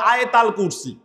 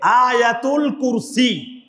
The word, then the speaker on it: আয়াতুল কুরসি: পবিত্র কোরআনের সূরা বাকারার 255 255 নম্বর আয়াত যাকে বাঙালিরা বিকৃত উচ্চারণে সবসময় বলে আয়াত আল কুরসি। কিন্তু এটার এক্সাক্ট প্রনাউন্সিয়েশন হচ্ছে আয়াতুল কুরসি।